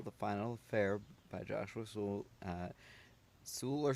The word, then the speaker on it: Sewell: The Final Affair by Joshua Sewell. Sewell or Soul? How do you pronounce? Yeah, they're right. It's Sewell.